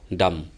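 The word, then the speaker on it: dumb: N silent, এনের পর যদি এম থাকে তাহলে এন সাইলেন্ট হয়ে যায়, যেমন ডাম।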